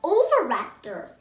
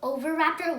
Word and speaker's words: Oviraptor: today this dancer the oviraptor i'm going to tell you how to pronounce it over raptor and it was a